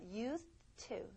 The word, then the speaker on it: used to: 예, used to 이렇게 하지만 여러분이 이 D가 있다라고 생각하셔야 돼요. 예, used to입니다. 자, used to 이렇게 들릴 거예요. 이렇게 발음하셔야 되고요.